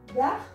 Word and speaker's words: verts: Vah. Vah. Vah. Vah. Here also no changes in pronunciation.